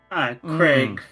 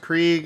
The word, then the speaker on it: Krieg: Craig from Borderlands. Oh. I don't get it. Time to ride the meat bicycle. You are the meat bicycle. It's pronounced Krieg and it's a 40k thing.